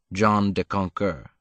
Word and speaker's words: John de Conquer: or sometimes hi john john de conquer is the pronunciation found in oral records and song it is the ultimate